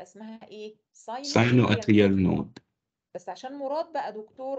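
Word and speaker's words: sinoatrial node: لا اسمعني يا مراد نقسمها مقاطع. يلا هنقول ساينو اتريال نود. يبقى اسمها ايه؟ ساينو اتريال نود.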